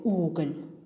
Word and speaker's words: уголь: случае с мягким знаком в слове уголь звук л произносится мягко а во втором случае звук л произносится твёрдо Давайте ещё раз повторим